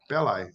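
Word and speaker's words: Belli: and obviously it was Melvin belly bellai bellai is how you pronounce it and one of the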